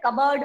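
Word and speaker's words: cupboard: Assign में जी silent, कबर्ड में P silent and last foreign में जी साइलेंट।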